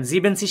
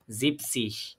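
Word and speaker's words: siebzig: কি বলবো তাহলে ইয়া আবার এখানে আমরা খেয়াল করেন জিবেনসিস কিন্তু বলি নাই আমরা তাই না এখানে আমরা কিন্তু জিনসিস বলি নাই আমরা বলবো কি জিপসিস কারণ যখন এই জিবেন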